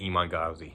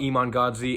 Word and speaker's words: Iman Gadzhi: I've known about I'm gonna say Iman Gadzhi. That's the way I pronounce it. I've known about Iman Gadzhi and Luke Belmar for a while, but I just started listening to their shit.